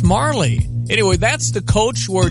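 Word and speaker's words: Majerle: He said Dan Marley's how you say it. I looked that up online and had the pronouncer, and some person had it majorly, and I said, I think it's Marley.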